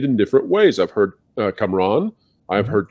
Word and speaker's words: Kamran: Well, the Pakistani Urdu pronunciation, I guess it's probably the Persian, because it's a Persian word. Iran is next door to us in Pakistan. Is Kamran, so there's an emphasis on the A's on both sides.